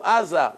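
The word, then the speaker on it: עזה: You see Aza Gaza? How do you say Gaza in Hebrew? Aza.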